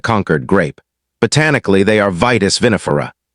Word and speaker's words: Vitis vinifera: Botanically, they are Vitis vinifera, pronounced Vitis vinifera, the Old World European wine grape family.